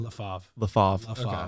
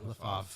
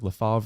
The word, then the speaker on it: LaFave: LaFave. Okay. Yeah, LaFave. Yeah. Because I see it everywhere, but I didn't know it was like LaFavre or LaFave.